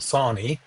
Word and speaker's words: Sawney: videos, you always see Mount Sawney, or Sawney Mountain. That's the correct way to pronounce it.